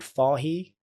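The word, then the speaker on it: Fage: So there's a brand called Farah. It's spelled F A G E.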